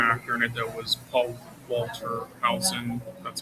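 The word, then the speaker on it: Paul Walter Hauser: Um I uh my favorite actor in it though was Paul Walter Hson.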